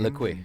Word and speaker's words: Lequay: Pronounce her last name again. Janine Lequay. Janine Lequay.